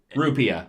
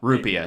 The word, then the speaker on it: rupiah: called up Ruby or whatever or however you pronounce it yeah rupiah rupiah it's it's how it sounds it is literally